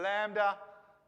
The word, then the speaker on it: lambda: english letter k does lambda makes an l sound just like you'd expect the l to make in english moo and new all